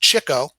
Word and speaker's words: Chico: the three oldest brothers his nickname pronounced chicko was given him by art fischer during a poker game leonard was notorious for chasing after the chicks or women his phony italian accent